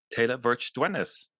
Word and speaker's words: Teila Verch Dywenys: the the lovely the wonderful The Talented um Taylor vir ders did I pronounce that correctly you did you did well